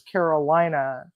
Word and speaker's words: Carolina: So, just in case anybody says, wait a minute, her name is Carolina. In Spanish-speaking countries, INA, names that end in LINA, are actually pronounced Lena and not Lina.